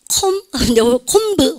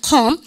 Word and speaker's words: comb: 콤브 혼나요. 근데 비발은 묵음이죠. 여러분들 컴입니다. 그죠? 발음했다 컴.